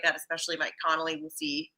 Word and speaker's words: Conley: like that, especially Mike Conley. We'll see. I always say Connolly. Mike Conley. 2 syllables.